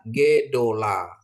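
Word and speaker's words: גְּדוֹלָה: Ini ada Gimel, ada Dagesnya, ada titik di tengah ini ya. Jadi bacanya Gedola ya, Gedola ya.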